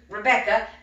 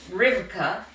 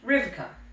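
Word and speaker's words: Rivka: 14 or so came out her name was rebecca but it's pronounced riverka in hebrews say you say it like rivika so riverka came out robert he's saying this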